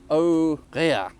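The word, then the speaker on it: Aux Réas: Aurea, with an S on the end, which I don't think I should be pronouncing, should I?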